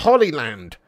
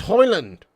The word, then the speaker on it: Hoyland: that all about me his name's not Holy Land his name's hoyland get it in there rule